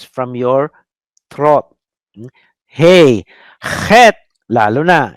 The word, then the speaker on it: Het: You pronounce from your throat. Hey. Het.